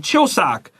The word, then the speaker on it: Chuseok: In Korea, the festival is called Chuseok. The end.